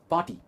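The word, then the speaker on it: party: और हम कहते हैं पार्टी एंड नॉट पार्टी। Again इसमें आर प्रोनाउंस नहीं हो रहा है, इट्स पार्टी, पार्टी।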